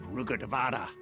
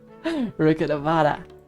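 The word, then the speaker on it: Rukkhadevata: Although they believe in gods, most of them only care for the late Greater Lord Rugadavada. You pronounce that differently. Rugadavada.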